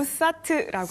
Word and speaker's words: OSAT: 그런 쪽에서 오늘 보면은 오삿 어떻게 발음합니까? OSAT? 오삿? 오사트라고 합니다. 저희 그 잉글랜드에서는요 오사트라고 해서 네네.